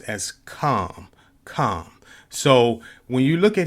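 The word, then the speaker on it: חָם: And it also, in Hebrew, his name is pronounced as Kam.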